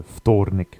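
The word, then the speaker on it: вторник: is a little shorter I could arguably just say that the Thor is sort of one syllable here but I've broken it into three here now the the V can sort of sound a bit like an f um so thordnic will be understood just as well as well next we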